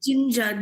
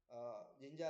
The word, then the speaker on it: Jinja: This Can you language is spell it? Jinja.